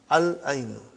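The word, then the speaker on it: العين: We pronounce lam. Al-ainu.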